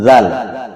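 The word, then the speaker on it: ذال: Yaitu makhraj dari huruf zal ini adalah ujung lidah dengan ujung gigi. Zal, ujung lidah dengan ujung gigi seri bagian atas. Zal. Cara pengucapannya, ujung lidah sedikit dikeluarkan.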